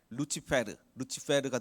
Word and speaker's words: Lucifer: 라틴어로 루시퍼 발음이 어떻게 되면 루치페르가 됩니다.